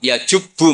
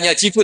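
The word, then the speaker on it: يَجُبُّ: Terus Nabi ngentikan, "Alisu yajubbu maqoblah." Itu bacanya bukan yajibu tapi apa?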